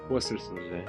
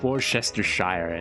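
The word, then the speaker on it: Worcestershire: Worsters. Worsters. Worsters. Worsters. Worsters. Not woresterhshire.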